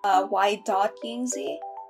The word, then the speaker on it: Yingzi: You pronounce my channel, y.yingzi, not y, period. Not y period Yingzi.